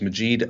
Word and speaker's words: Majeed: so I like to introduce myself as Majeed like magic because I try to